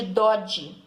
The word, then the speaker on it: Doge: E esses grandes comerciantes, eles formaram assembleias, e nessas assembleias eles elegiam o seu representante, que tinha o título de Doge, né? Com a pronúncia italiana, que significa comandante.